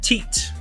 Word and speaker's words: Teat: Jeff Teat, like the Teats.